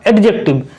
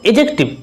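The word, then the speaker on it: adjective: इट्स नॉट एडजेक्टिव, इट्स एडजेक्टिव। यहाँ पे डी क्या है, साइलेंट है।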